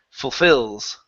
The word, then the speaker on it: fulfils: the word fulfils ok the stress is on the end and that beginning part is really quick fulfills both eels there you go one more time full fulfills pahale fulfills good if he fulfills his promise if people fear as he has promised ok watch that I on Phil's instead of fulfils fee fit it keep it as a short I if he sorry if